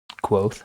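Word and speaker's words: Kvothe: Quoth is not as cool to me, And, actually, and I know that's how you say it, but to me, no. I knew when reading it that it was Quoth.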